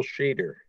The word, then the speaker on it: Shader: Shader, I hope I'm pronouncing your last name right. Yeah, you got it right. Thanks, everyone. My name is Shader.